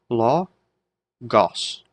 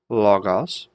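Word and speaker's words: λόγος: So, logos, logos, and make sure the accent's on that first syllable.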